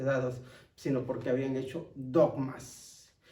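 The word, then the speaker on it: δόγμα: Y es curioso ver que en griego la palabra ordenanzas se pronuncia dogma, que es precisamente lo que tenemos nosotros hoy en día o que conocemos como dogmas.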